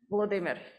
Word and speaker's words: Volodymyr: So, excuse my pronunciation, is it Volodymyr Zelensky? Volodymyr, yeah.